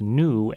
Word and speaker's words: gnu: By the way, the G in Kernighan is silent. That's new as in the wildebeest, not the free software thing, which has a hard G, as in GNU. So it's new, not GNU.